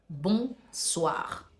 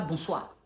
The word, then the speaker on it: bonsoir: mesdames messieurs bonsoir bonsoir parce qu'il y a un r à la fin qui doit être prononcé bonsoir C'est pas bonsoir dans le langage basique